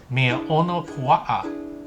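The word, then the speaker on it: mea ono puaʻa: The local name, Manapua, is actually a mispronunciation of the Hawaiian Mea ono pua'a, or delicious pig thing. See, that makes a lot more sense, right? Than Manapua, which would actually translate to spiritual flower.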